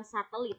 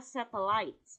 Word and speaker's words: satellites: Nah, kemudian pengucapan ini nih, satellites ya guys, bukan satelit. Satelit itu bahasa Indonesia. Pengucapannya adalah satellites, oke?